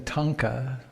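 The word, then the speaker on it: thangka: me here this Tibetan tonka tha ng ka there's pronounced it's the audiovisual component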